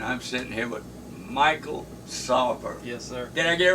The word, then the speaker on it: Sarver: Sarver. It's almost like Savoy. Almost. Sarver. Except for it's not.